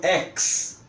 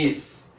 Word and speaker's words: ex-: Se o prefixo for es, algumas pessoas pronunciam ex para exagerar, mas na verdade é es, no sentido de estado anterior ou efeito de cessar.